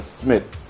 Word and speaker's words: Schmidt: could Google sometime later, by the name of Oscar Smith. His last name is spelled SCHMIDT, known as one of the most prolific scorer in the history of FIBA international basketball.